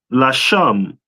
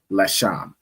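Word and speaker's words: לשם: Which is pronounced in the Hebrew Lasham. Lasham. No sign Christ. All right. So it's the Legia, which in the Hebrew is pronounced Lasham.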